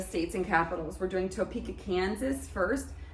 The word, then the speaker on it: Topeka: We're doing Topeka, Kansas first. Sounds like the word peak, so we're gonna just play peekaboo.